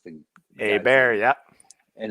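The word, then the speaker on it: Hebert: was that was a bear that's how he pronounced thing a bear yeah and it's spelled the same and this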